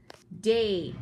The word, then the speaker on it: date: Now notice this E. Now I did not say an eh sound at the end because that E is called a silent E, or I also call it a magic E.